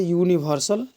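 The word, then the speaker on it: universal: इसका उच्चारण को देखते हैं तो उच्चारण में होता है य से शुरुआत होता है, यूनिवर्सल। तो देखिए पहला अक्षर य हो जाता है और यह क्या है,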